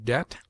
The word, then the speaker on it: debt: It is mute in det, debtor, subtle, doubt, lamb, limb, dumb, thumb, climb, comb, womb.